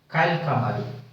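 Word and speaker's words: كالقمر: Ka, kal kamaru. The alif should not be pronounced. We directly go from the kaf to the lam.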